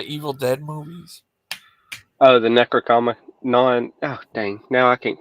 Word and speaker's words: Necronomicon: Yeah, he read about the Numnanicon, he said. You ever heard of that? What now? Robert? Yeah. The book from the Evil Dead movies. Oh, the Necronomicon.